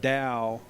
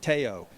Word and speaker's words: Tao: TAO is pronounced DAO in English although it may look like teao, but it is pronounced DAO for those of you that don't know.